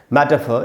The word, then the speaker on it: metaphor: मेटाफर, इसका दोस्तों जो उच्चारण है वो है मै के बाद ट है और ट के बाद आधा अ है, यानी ट पर थोड़ा सा रुकना है। मैटर, मैटर, फ के बाद भी आधा अ लिखा, मेटाफर। ये ब्रिटिश इंग्लिश का उच्चारण है।